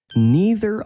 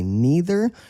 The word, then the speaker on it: neither: In English, there are two correct ways to pronounce this word. You can say neither or you can say neither.